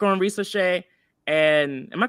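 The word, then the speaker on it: Risacher: So I still have a like on Risa Shea. And am I pronouncing his name wrong?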